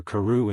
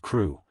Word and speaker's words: Crewe: difference in the name Madame Pascal pronounced it as if it were Karu instead of crew but that might be